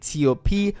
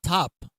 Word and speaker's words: T.O.P.: E was special as we saw the return of GD and T.O.P with Chutta. And the song So his name is not Top. It's T.O.P. You gotta say it properly, right?